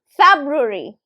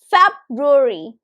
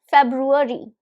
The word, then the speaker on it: February: So it is pronounced as February. February. February. So the third syllable is actually, it's like kind of swallowed.